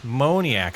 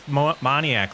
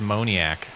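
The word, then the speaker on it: Moniak: I've been saying it wrong. Huh? Moniac. I thought it was Monontiac. Like Pontiac, but apparently it is Moniac.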